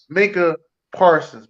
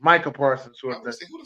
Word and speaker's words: Micah Parsons: making Fitzpatrick scored a touchdown not my fault Minka Parsons Micah Parsons I said his name wrong I bought them Cowboys yo that [